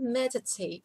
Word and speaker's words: meditate: Глагол meditate, медитировать. Обратите внимание, что ударение стоит на первом слоге.